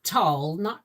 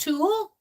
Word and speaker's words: tulle: Not tulle, it's pronounced tool?